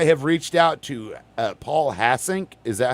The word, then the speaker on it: Hassink: I have reached out to Paul Hassink.